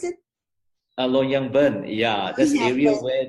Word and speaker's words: Longyearbyen: How do you pronounce it? Longyearbyen.